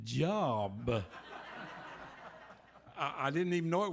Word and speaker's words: Job: It was Job, and I called it Job.